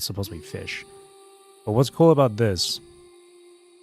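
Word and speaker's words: Ghoti: for this is actually fish. G h o ti is actually supposed to be pronounced as fish because of how the English language works.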